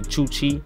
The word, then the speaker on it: Chuchi: I was pronouncing his name wrong. It's actually Chuchi.